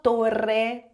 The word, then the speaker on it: torre: Agora atenção, tutti timbro, timbro tigre topo, torre torre o r sempre vibrante.